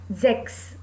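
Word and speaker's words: sechs: will become fun okay six is sex six sex here the pronunciation pronunciation of s is zo so we said sex next seven zeben seven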